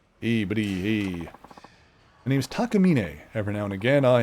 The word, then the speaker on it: Takamine: There's a uh guitar company called Takamina. Funnily enough, a lot of English speaking people call it Takamine, which I guess you could like it's a common pronunciation of the guitar brand in English.